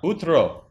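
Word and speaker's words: утро: Utra. Yeah, I remember that word. Utra. Utra. Utro. Utra. Yes. How come it's pronounced utra? There's an O. Sometimes we can, like, pronounce like A, not like O.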